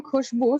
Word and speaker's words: Khushbu: So for example, I'm Khushbu, so Khushbu, right? Khushbu. So two sounds. Two sounds, so two syllables.